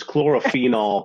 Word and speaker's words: chlorophenol: lot of faith in me being able to pronounce it chlorophenol compounds yes yes yes well done John you